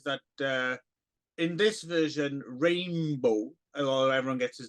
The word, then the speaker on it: Rainbo: know running argues that uh in this version Rainbow Oh everyone gets his name wrong hey dildo hey hey purple yo it's